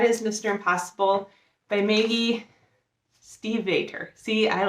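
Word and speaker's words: Stiefvater: mr impossible by maggie steve vader see i like steve otter steve butter uh i actually looked up how to pronounce manufacture i always want to say stephen stay figure but it's steve varter so this is the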